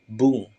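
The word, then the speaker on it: 文: minasang Nah untuk ongyominya itu ada dua ada Bung ada juga Mong Cara pakainya gimana langsung ke contoh contoh yang pertama kalau dia sendiri seperti ini dia akan dibaca Bung yang artinya kalimat contoh yang kedua kalau dia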